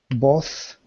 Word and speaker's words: bought: We have bought here. Both. Yeah. Both. No, forget the GH. It's silent. Ignore it.